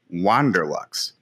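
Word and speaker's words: WanderLux: I'm assuming it's spelled W-A-N-D-E-R, so it has to be Wander, not Wonder. Wander Lux.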